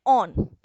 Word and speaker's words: one: अगर आपका कंपाउंड बच्चों कीटोन है, तो आप सेकेंडरी सफिक्स क्या लगाओगे, ऑन लगाओगे। याद रखिएगा, ONE को कैसे प्रोनाउंस करना है, ऑन, ना कि वन।